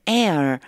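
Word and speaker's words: heir: 하인이 will be my Air 요거 발음 조심하세요가 발음이 안나요라고 하셔야 돼요 나의 상속자가 될 것입니다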